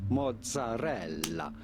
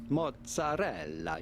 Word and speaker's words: mozzarella: as with the typical Italian pronunciation, the name mozzarella, mozzarella. You do want to insist on the double letters, the double Z or double Z and the double L.